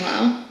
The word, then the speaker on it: Lau: Literally in the notes it says Dan like Ann. I'm sorry, what else would Dan rhyme with? Okay. Oh, and Lau slant rhymes with owl. Thank you, Kevin. Am I saying it right? Dan Lau?